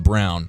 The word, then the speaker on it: Braun: is the rookie Christian Brown even though it looks like Braun when you when you see the spelling of it yeah pronounce brown but the Kansas right yeah